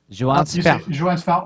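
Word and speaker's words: Joann Sfar: Joan Sfar or Johan Sfar, it depends. But okay. Joan Sfar, most of the time.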